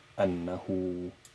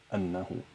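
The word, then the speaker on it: أنه: Meaning that if you read here, you include this waw in the pronunciation, but it is not in fact a part of the word in terms of spelling. So it is spelled with three letters, Annahu, but it is pronounced with four, Annahu, Annahu.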